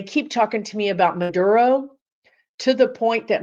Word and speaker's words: Maduro: to the point that my guides are giving me accent lessons like Maduro madur I go around the house going Maduro Maduro Maduro mad I'm like trying to say it like I hear it in my mind and I can't because I can never roll my RS I just can't do